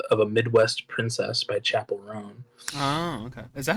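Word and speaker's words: Chappell Roan: fall of a of a Midwest princess by Chapel rone oh okay is that how you pronounce it yeah Oh I thought it was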